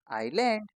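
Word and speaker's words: island: इसमें एस को नहीं पढ़ना। तो ये क्या बन जाएगा? आई लैंड। आइलैंड।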